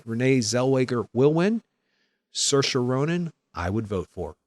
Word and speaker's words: Saoirse: But something about Saoirse Ronan was just perfect.